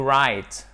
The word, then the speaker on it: write: To write. You do not pronounce the W here, OK?